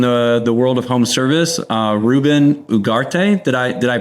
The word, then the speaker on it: Ruben Ugarte: Today's episode, we have a special guest in the world of home service, Ruben Ugarte. Did I pronounce that correctly?